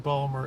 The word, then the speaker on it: Baltimore: You always got to drop a syllable in Balmer.